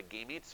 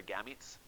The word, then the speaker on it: gametes: There's 2 different pronunciations for it. You can call it a gametes or a gametes. I'm not really sure that either one really is more important than the other in terms of how you say it.